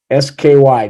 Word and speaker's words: SCI: SKY, just pronounce it as Sky, okay?